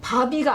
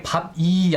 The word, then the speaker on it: 바비: 바비가 아니라 네. 바비더라고요. 바비. 이게 발음이. 네, 아까 채팅창에 밥이 아니냐 이렇게 밥이, 하신 분이 있는데 네. 전혀 아닙니다.